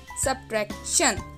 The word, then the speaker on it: subtraction: इसमें जो C है वो साइलेंट है, तो इसे इस तरह से आप प्रोनाउंस करेंगे सब्ट्रैक्शन, सब्ट्रैक्शन। Repeat with me, सब्ट्रैक्शन।